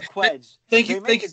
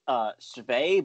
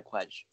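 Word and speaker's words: Cwej: There's a joke about it in an original song where it's like, it should be pronounced Shvay, but no one pronounces it that way, so I go by Quedge.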